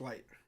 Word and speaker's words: Licht: about getting a fourth i thought it was jason licht pronounced light oh it is gotcha or like liked